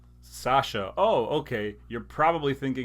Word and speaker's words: Sasa: And if you say it the way that it's spelled, you're not saying my name correctly. So here's what I did. I put in parentheses Sasha with an H.